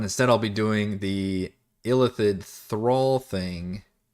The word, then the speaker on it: Illithid: By the way, do we pronounce it Illithid or Illithid? And is that, maybe that's just a like European pronunciation? Because Baldur's Gate does Illithid, and I have never been able to make peace with that.